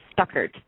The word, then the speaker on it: Stuckert: is it Stuckert? Is that the correct way to say your last name? Yes, Stuckert. Mm-hmm.